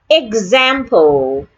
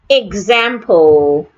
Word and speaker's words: example: Example. Example. Do not say example. The letter E in this word, the first letter E in this word sounds A.